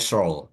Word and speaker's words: Searle: Bacanya Searle.